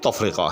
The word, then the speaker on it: تفرقہ: بحر کے اندر ہے۔ آپ نے دیکھا کہ یہاں بھی درست تلفظ جو ہے وہ تفرقہ ہے۔ اور کیا مزہ ہو